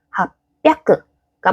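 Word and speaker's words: 八百: 그래서 삼비아크가 맞는 표현, 로비아크가 맞는 표현, 합비아크가 맞는 표현입니다.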